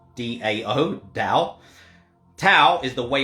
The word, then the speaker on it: Tao: taoist way the dao spelt t-a-o but pronounced d-a-o dao tau is the